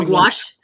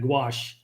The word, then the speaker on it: gouache: Gouch go something. Oh, gouache. Yeah, exactly. Okay. Yeah, gouache.